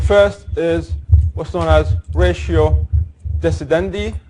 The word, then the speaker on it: ratio decidendi: is what's known as ratio decidendi or sometimes pronounced ratio dese's and i and obiter dictum thing